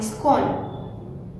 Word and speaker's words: scorn: Here the R is silent, SCORN, scorn.